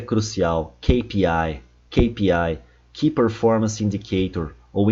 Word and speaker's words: KPI: Kpi, KPI, Key Performance indicator ou indicators, né? Porque são vários. KPI, KPI. E aqui tá cheio de brasileiro errando. Ki, olha o I. Ai, sou eu. Ki.